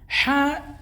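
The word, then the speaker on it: ح: we have ha ha if we want to pronounce ha correctly put your hand on your chest and then say ha with an h and a ha you will feel like your your chest is now sinking in but when you say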